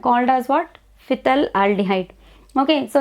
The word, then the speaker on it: phthalaldehyde: Phthalaldehyde. Phthalaldehyde. Phthalaldehyde you call it as. Difficult to pronounce. Okay, phthalaldehyde. Sometimes P is taken silent also.